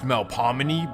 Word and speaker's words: Melpomene: Now, technically it should be pronounced Melpomene, but it's New Orleans.